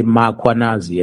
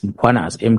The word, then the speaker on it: Mkhwanazi: them to pronounce Mkhwanazi, they will put an A after M. They will say Mkhwanazi, and there's no A, it's Mkhwanazi, MKH.